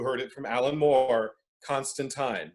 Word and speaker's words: Constantine: it from alan moore constantine because he's british and it's post vowel shift okay fun facts let's